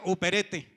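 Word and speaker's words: ὑπηρέτης: Hay un libro, hay una palabra en el griego que se pronuncia uperete, y usted lo traduce, y uperete tiene como traducción remo, remando o remar.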